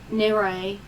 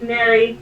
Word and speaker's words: Mary: uh i might ask nerei uh did i say that right okay okay it's mary mary okay cool i'm just